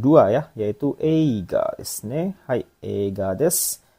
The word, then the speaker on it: 映画: Ini kanji yang ini bacanya yaitu yang nomor 2 ya, yaitu eiga desu ne.